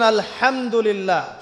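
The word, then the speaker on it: الحمد لله: এইতো আপনি পড়ছেন আলহামদুলিল্লাহ। শব্দটা কি? আলহামদুলিল্লাহ। এই হা এর মাখরাজ কোথায়? হা এর মাখরাজ কোথায়? বলেন একজন কন্ঠনালীর মাঝখান থেকে।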